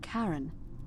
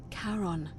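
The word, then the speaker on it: Charon: It's just as you described it, only your pronunciation is a little off. The name you heard wasn't Karen. It was C H A R O N. As in Karon, the fairyman of the dead. Kaon, who in exchange for the right coin, helps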